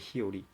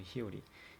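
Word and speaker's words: 日和: 히오리 그죠? 히요리. 이거를 히요리라고 읽는다는 거.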